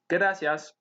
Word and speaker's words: gracias: in the word gracias we don't roll the r but instead we simply tap it for a pronunciation of gracias okay now that we've